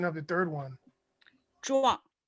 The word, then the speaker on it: Zhuang: Kong, we need the pronunciation of the third one. Zhuang. Zhuang.